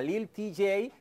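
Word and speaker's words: Lil Tjay: Lil t Lil Lil tj así se se pronuncia Lil tj que es un rapero estadounidense que ahí lo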